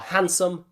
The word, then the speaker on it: handsome: So remember, silent D is usually found in between, that's in the middle of, two other consonant sounds. Perfect examples are handsome and sandwich.